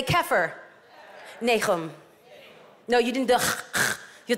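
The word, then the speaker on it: כפר נחום: See, we say Capernaum, but that's not how it's pronounced. Say this with me. Say Kefir. Nechum.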